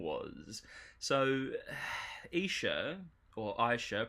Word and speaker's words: Isha: So, Isha, or Isha, pronounced Isha, is woman in Hebrew, or Eve's second name, of Adam and Eve fame, right?